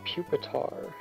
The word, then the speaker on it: Pupitar: puetar it's called reer right right it's pronounced Pupitar whatever but why is it name reier bookor